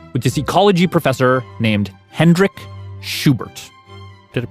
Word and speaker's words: Hendrick Schubert: Yeah, the story started here in Rostock with this ecology professor named Hendrik Schubert. Did I pronounce that right?